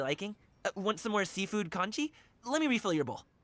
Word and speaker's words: congee: Want some more seafood congee? Let me refill your bowl. Congee, that's how you say it.